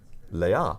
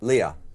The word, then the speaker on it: Leia: it incorrectly and well how how do you pronounce Leia wrong Leia Leah Leah princess Le Princess Leah but the thing is